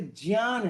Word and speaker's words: ज्ञान: देखिए, इसका शुद्ध उच्चारण संस्कृत के हिसाब से ज्ञान है, ज्ञान। अगर आप कभी स्वामी रामदेव या आर्य समाज में विश्वास रखने वाले लोगों से सुनेंगे तो वे लोग यज्ञ बोलते हैं, यज्ञ। वे लोग यज्ञ नहीं बोलते, यज्ञ। ये शुद्ध उच्चारण है, यही शुद्ध है, यही होना चाहिए, परंतु हिंदी में उसको ज्ञ के रूप में बोल देते हैं।